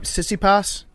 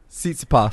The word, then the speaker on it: Tsitsipas: Jake, how do you pronounce that guy's together. name? Sissipas? Tsitsipas.